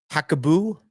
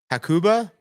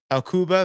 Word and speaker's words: Hakuba: can go out to hako h no that's definitely not how you say it hakuba hakuba Valley and rusu Resort in